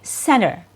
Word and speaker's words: center: But in everyday, casual, normal spoken, everyday spoken English, the T is typically removed. So it's going to be center of attention.